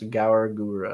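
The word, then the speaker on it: Gawr Gura: The name is pronounced Gauragura. Okay.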